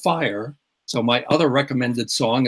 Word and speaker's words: FHIR: And the big software vehicle for moving things around is called FHIR, and that is pronounced fire.